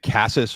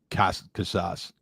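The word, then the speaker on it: Casas: So, I mean, some of the guys who we had like um now, how do you pronounce it? Is it Cassas or Cas Cas? Casses. Yeah, Cassas.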